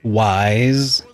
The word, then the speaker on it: Ys: And I mean, I believe it's pronounced Wise. Wise.